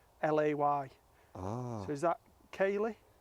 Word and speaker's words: Caley: It says on the website, it says pronounced Cahlay.